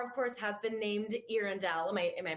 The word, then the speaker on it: Earendel: So the star of course, has been named Erindale. My am I pronouncing that correctly, excellent, perfect and that of course.